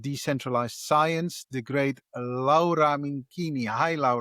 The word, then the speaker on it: Minquini: Minkini or Yes.